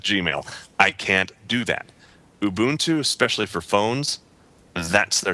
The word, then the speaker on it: Ubuntu: about anything Ubuntu related is it the liquid U or is it not is it Ubuntu or is it Ubuntu or what I've heard it pronounced Ubuntu I think that's right and I apologize for calling